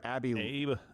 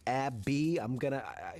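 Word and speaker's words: Abbe: I am assuming that it's spelled A-B-B-E and it's pronounced Abby.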